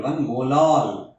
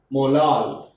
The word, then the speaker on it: molal: It is 1.1 molal. How do you pronounce this? Molal. Similarly, in molarity, suppose 1.1 molar, okay, molar we are pronouncing. This is molal.